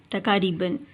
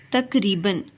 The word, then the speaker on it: تقریباً: چلا ہوں۔ تقریباً تقاریباً، پہلا لفظ اس میں کاف ساکن ہے اور دوسرے لفظ میں کاف کے اوپر زبر کی علامت ہے، تو ہم نے صحیح تلفظ کا انتخاب کرنا ہے۔ تو صحیح لفظ ہے تقریباً۔ میں تقریباً 10 میل